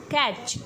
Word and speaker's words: catch: And for ch sound after vowel we use TCH. T is silent. The sound will be ch. Ch. Catch.